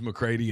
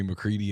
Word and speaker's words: McCready: You just look, my name is McCrady, and everyone calls me McCreaty, and I just answer to it.